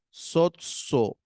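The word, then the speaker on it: σῴζω: y la Sigma Omega hay una yota suscrita en la parte de abajo pero no la pronunciamos Así que directamente decimos sozo soo listo bien ese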